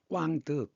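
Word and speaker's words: Quảng Đức: 그다음에 우리 한자음은 광덕이지만 덕이 넓다. 그런 뜻이지만 프랑 저 베트남 발음으로는 꽝득 이렇게 읽는답니다.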